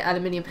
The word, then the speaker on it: aluminium: way a lot of people say different like a lot of the American kids say was it aluminum yeah and we say aluminium in race of the Moon